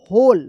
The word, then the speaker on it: whole: अब देखिए यहाँ पे WHOLE होल, होल पढ़ेंगे। होल, यहां पे भी W जो है ना साइलेंट रहता है, इसको याद कर लीजिएगा, WHOL होल।